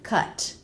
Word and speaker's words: cut: the word after it if the next word begins with a vowel make that a flap T like in cut across cut up cut up